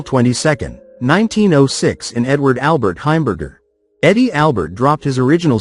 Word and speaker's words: Heimberger: Eddie Albert as Oliver Wendell Douglas, born April 22nd, 1906 in Edward Albert Heimberger. Eddie Albert dropped his original surname because he found that people invariably pronounced it hamburger.